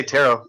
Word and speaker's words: tarot: Is it pronounced tarot? All right, well, let me read. Tarot. I just say tarot. I mean, I say tarot. Okay. I just take the T off the end, tarot.